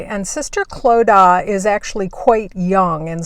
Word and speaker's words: Clodagh: head nun who is sister Clodagh and I think I'm pronouncing that correctly and sister Clodagh is actually quite young